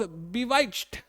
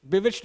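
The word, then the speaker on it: bewitched: शी वॉज बिवाइच्ड, बिविच्ड बाय her beauty. बिविच्ड इसका correct pronunciation होगा।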